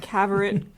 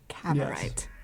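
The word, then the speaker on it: Cavorite: Yeah, and so they're trying to get the Cabaret crystal. Is that how it's said? Crystal of Cabarite. Cabarite.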